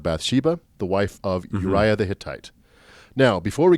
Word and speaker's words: Uriah: i'm i'm mormon so i want to i want to do a hard eye on every every eye who knows no nephew is how it's pronounced uriah okay so although he